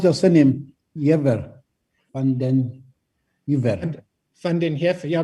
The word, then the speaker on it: van den Heever: Van den Heever. Van den Heever. Yeah, there are many pronunciations, but Afrikaans people pronounce it supposedly correctly, and mine still says Van den Heever.